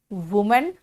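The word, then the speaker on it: women: देखो वो कहा मैंने, है ना, लेकिन बोलते हैं वी, ठीक है ना। यहां पे वुमेन, यहां पे वीमेन, वो तो लिखा है लेकिन वी प्रोनाउंसिएशन होगा प्लूरल में, वुमेन वीमेन।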